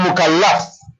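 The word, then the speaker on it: مكلَّف: Remember these pronunciations very, very carefully. Mukallaf and mukallif. The people who understand Arabic, one vowel here and there makes a mistake. Totally different word.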